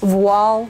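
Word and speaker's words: voile: yardage of red Cotton's wall in my stash with this gown of mine for more than a year and yes it's pronounced wall it's the French word for Veil it's very thin cotton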